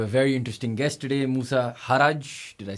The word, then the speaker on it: Moosa Harraj: We have a very interesting guest today, Musa Haraj.